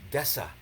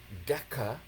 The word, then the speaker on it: deca: Like a deca meter, right? As opposed to desa, right? So again, grammar names, learning words and how to pronounce them. Deca should be a d